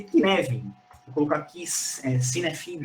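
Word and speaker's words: Cynefin: Inclusive, eu sou um altíssimo entusiasta, fica aqui Eu vou postar no chat, porque se pronuncia de um jeito e se escreve de outro. O framework é Kinevin.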